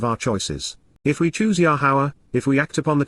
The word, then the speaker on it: Yahowah: these are weeds and W yahwah yahawah the proper pronunciation of the name of iloa God has directed in